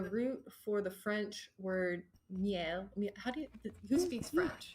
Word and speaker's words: miel: You know that melly or honey is the root for the French word miel. Who speaks French? Miel.